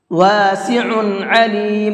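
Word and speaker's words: واسع عليم: بھر کے پڑھیں گے۔ واسع علیم، دونوں جگہ پر عین ہے، عین نکال کر کے پڑھیں گے، حمزہ نہیں پڑھنا ہے، ٹھیک ہے۔ تو الحمدللہ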